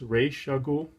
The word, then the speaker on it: Ra's al Ghul: This is the first appearance of, I believe it's pronounced Ra's al Ghul, according to the animated series anyway.